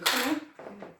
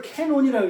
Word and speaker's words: 카논: 이 카논을 캐논이라고 읽어요. 왜? 영어 잘하시죠? 이 카논이라 이 카를 R을 L하고 L로 캐논 이렇게 읽어요. 이게 아니에요.